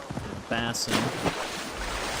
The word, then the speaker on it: Basim: Oh, how the blood will Let's go explore that other area now before we report back to Basim Bass. That's how they normally pronounce it is bass.